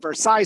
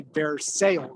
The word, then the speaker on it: Versailles: They had a street called Versailles Street, but if he said that if anybody ever said Versailles Street, Alama, they wouldn't know what they're talking about. So you had to say Versail Street.